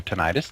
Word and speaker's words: tinnitus: Well, I think aside from the tinnitus, that went rather well. Indeed. Tinnitus, not tinnitus.